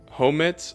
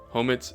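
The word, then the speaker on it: Homet's: Homes. I don't know if I'm pronouncing that right. It's H O M E T. Apostrophe S. Homit's secret potion.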